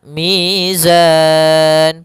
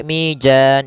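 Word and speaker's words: الميزان: Kemudian mizan pada lafal zan mad arid lukun. Hati-hati jangan sampai mijan. Jangan dibaca dengan jim jangan pula dibaca dengan dalan dengan dzal. Tapi di sini huruf zai harus jelas zanya.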